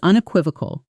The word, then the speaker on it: unequivocal: That's unequivocal. Shadow it slowly. Unequivocal. Unequivocal. This one is longer, so let's break it down. Un k w i v o. Cool. Practice the stress on that third syllable a few times slowly, then at natural speed.